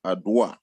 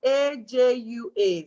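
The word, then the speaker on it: Adwoa: My name is Ajua. It's A-J-U-A. So even though it's spelled A-D-W-O-A, you pronounce it with a J. So it's Ajua.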